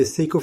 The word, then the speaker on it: Seiko: The Seiko SNKK52 automatic watch is a Japanese watch, rare and highly sought after. If its nickname Seiko rhymes with the Patek Philippe Aquanaut model, the shape of